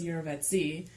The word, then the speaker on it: jirovecii: Some dude, I think it's Switzerland, and you pronounce his name Eurovets, and so it was named after him, so it's Jirovecii.